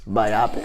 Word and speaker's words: biopic: my rabbits biopic biopic biopic this is a biography make sure it's a biopic is pronounced myopic you know it could